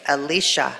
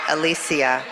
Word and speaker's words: Alicia: me a text saying it's Alicia not Alisia so Dr Alicia Smith